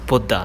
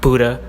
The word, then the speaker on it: Buddha: and yes it's pronounced buddha not buddha not butter it's pronounced there's a dh at the end for a reason you americans always ruining